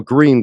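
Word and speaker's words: Grün: Ben Gurion was Grun or Green, depends how you pronounce, the U with 2 dots on top of it.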